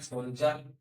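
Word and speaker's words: soldier: education graduation H ओ एल डी आई आर सोल्जर प आर ओ सी आ procedure procedure हो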